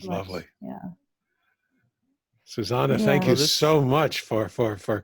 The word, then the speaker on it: Susanne: Yeah, and the way you say my name is Susanne. Okay, Susanne. But it is spelled with an E at the end, but it's German.